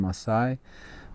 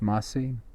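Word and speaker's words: Massai: afterwards you know masi in history they call him Masai but his name is pronounced MSI and he lived in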